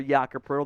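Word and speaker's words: Jakob Pöltl: trade idea Jacob again I don't know where the r in the in the pronunciation comes from but it's fun uh the athletic has linked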